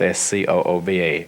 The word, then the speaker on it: Scooba: It's pronounced Scooba. Well, it's spelled Scooba.